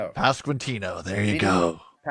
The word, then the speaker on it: Pasquantino: Uh I I cannot pronounce this man's name. Will you give it a shot? Pascino. Pasquantino.